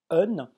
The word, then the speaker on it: hen: Alors, en fait, ça se prononce Un. Et en fait, un, c'est un pronom suédois qui a été mis